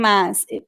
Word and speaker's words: mas: Jacob asked, is the S in mas pronounced as S or Z? Mas is pronounced as S. However, if you have a vowel right close to it, it could sound like a Z.